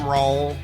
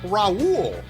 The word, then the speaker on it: Rauel: That's Rauel like Rauel, like Fresh. Get it right, because I have people regularly when I say my name is Rauel, and they go, oh, like Raul. And I'm like, did you listen to what I just said? It's Rauel like Growl.